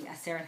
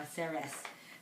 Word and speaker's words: Aseret: Ten Commandments, or the Aseret Hadibrot, or Aseres, however you say it, Hadibros. I'm used to saying it with the Sephardi way, although I'm not Sephardi.